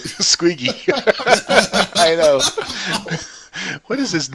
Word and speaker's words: Squiggy: out Lenny or squeaky squeaky because you keep mispronouncing it Squiggy what is his name